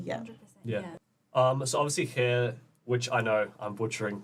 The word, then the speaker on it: Khair: But we also use the word Khair because we're hairdressers in a salon and Khair rhymes with hair.